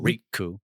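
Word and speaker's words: Rikku: If we're pronouncing it Japanese correctly, we do the little pause, the little Riku.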